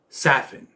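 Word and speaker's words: Safin: our main villain lucifer saffin even though it's spelled safe it if there's no if there's only one f i don't think you get the ass sound but hey it's how they pronounced it it's on them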